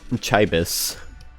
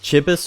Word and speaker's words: chibi: It's pronounced Chibis or Chibis, depending on where you're from.